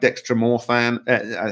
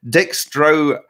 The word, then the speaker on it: dextromethorphan: And that is something like dextromorphan. How do you say it? Dextromethorphan.